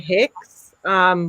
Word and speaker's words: HECS: Here in Australia, we have a program called HEX, which is spelled HECS, and you basically borrow